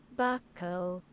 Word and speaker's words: buccal: Buckle. That's buckle. This is British pronunciation. Hold on. Buckle. Okay, so it's pronounced buckle. Buckle fat? Buckle. It's just pronounced buckle.